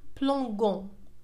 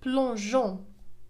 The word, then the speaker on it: plongeons: إذا في هذه الحالة devant O سنقول plongeons وهذا خطأ. لذلك أضفنا E بين G و O أضفنا E لتنطق J لتعطينا الصوت J وننطقها plongeons plongeons.